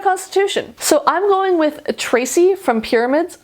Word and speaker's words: Ptraci: So I'm going with Tracy from Pyramids. I'm never positive if you're supposed to pronounce the P or not. I'm going to go with not.